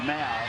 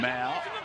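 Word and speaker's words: Ma'u: Peter did the season launch for Parramatta, and he tells me that it is pronounced Mao, not May-U or whatever others may have been calling him. Apparently he wants it known as Mao.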